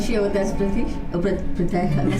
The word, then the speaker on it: Pritesh: Oh, Pritesh, I'm saying it right.